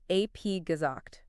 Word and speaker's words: abgesagt: It's pronounced abgesagt. Notice how the B at the end of the prefix ab sounds like a P.